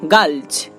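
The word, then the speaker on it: gulch: তেমনি করে দেখুন মালচ, দেখুন এখানেও আমরা এল লেটারটি পাচ্ছি, তারপরে CH যুক্ত হয়েছে, তাই এখানে তার উচ্চারণটা হচ্ছে চ এর মতো।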